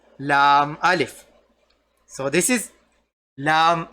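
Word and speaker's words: لا: It becomes a different shape we call Lam Alif. So this is Lam Alif. La. Lam Alif, which pronounces to La, which is called Lam Alif.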